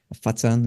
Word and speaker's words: Foshan: a little bit in Foshan in China. Fatsan is how you say it over there.